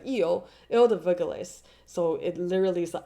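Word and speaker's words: Île des Vergelesses: Hence why they call it the L, like L, the like Eel, sorry, it's pronounced like Eel de Verglis.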